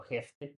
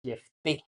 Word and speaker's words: Jefté: Digo, le he confesar que yo siempre he dicho Jefte, pero en realidad la pronunciación en el hebreo es Jefté.